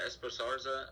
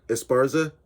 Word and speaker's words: Esparza: fight she lost to carla esposarza i said her name wrong what is it esparza esparza yes obviously i know who